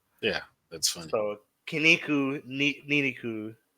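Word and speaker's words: ニンニク: for garlic rhymes with the word for muscle. yeah. That's funny. So Niniku, right?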